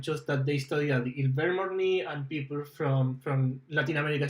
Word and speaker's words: Ilvermorny: Is it like Ilver or is that IL? IL, yeah. Yeah, it's IL. Ilvermorny. Yeah.